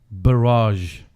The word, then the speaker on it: Balazs: Yeah, garage, but with a B. Barrage. Well, not exactly the R.